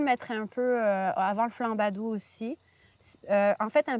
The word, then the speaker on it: flambadou: qu'à manger canard avec flambadou. Flan badou. Ouais. Comment ça s'écrit ? Flanadou. Là, tu parles à une dyslexique. Donc F L A M B Oui. A D O U Flambadou.